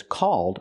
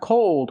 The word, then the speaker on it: called: difference this app is called fan chat not cold but called use the a sound like ball and fall a a call called